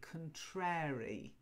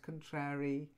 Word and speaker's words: contrary: but it's contrary okay now some people also say contrary and we learn that as children with the rhyme Mary Mary quite contrary how does your garden